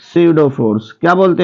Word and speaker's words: pseudo: जिसे हम बोलते हैं सीडो फोर्स। क्या बोलते हैं, सीडो force. सीडो force, P silent होता है, सीडो फोर्स।